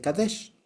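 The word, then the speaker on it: qadesh: Esta misma palabra se utilizó en femenino se dice queá y en masculino se dice kadesh.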